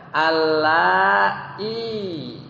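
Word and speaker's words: اللائي: Allai. Pakai panjang ya, ya-nya.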